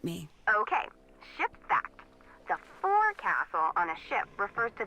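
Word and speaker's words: forecastle: ship but it's pronounced fil why is that try pronouncing it like an English sailor with no formal education SP Castle fol though over time it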